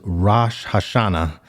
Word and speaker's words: Rosh Hashanah: it is it's uh I believe the proper pronunciation is Rosh Hashanah but to to kind of like undermine a